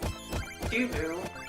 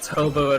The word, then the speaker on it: Tubu: It's pronounced Tubu. I've been pronouncing it Tobu in my head the whole time.